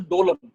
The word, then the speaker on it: Doklam: So Doklam crisis, Doklam standoff occurred in 2017. It is pronounced as Dolam.